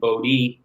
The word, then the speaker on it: Bodē: Like my dad signed his name Bodē with the long E sign, but when it was typed, before we had phones and all that, had the accent.